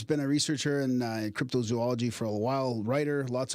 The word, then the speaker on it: cryptozoology: told that's wrong and it should be crypto zoology because it's zoology three o's yeah some people say cryptozoology like there's a zoo in it yeah that's